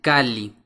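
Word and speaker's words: calli: cabeza se pronuncia son la letra doble l se pronuncia como si fueran dos L por separado por ejemplo casa se pronuncia kali otro ejemplo moli la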